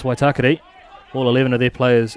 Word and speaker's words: Waitakere: Have heard it pronounced Waitakere before, but it's Waitakere.